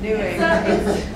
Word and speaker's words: Newegg: Yep, new egg.